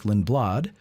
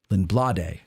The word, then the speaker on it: Lindblad: The Battle of Gettysburg podcast, number 4, by, of course, our buddies Jim Hessler and Eric Lindblad. Lindblade, I think is how you pronounce it back in the old country.